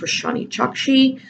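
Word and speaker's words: Roshani Chokshi: So for that, I chose Gilded Wolves by, I think it's pronounced Roshani Chakshi.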